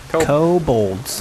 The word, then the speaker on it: kobolds: Kobolds. Co with a go.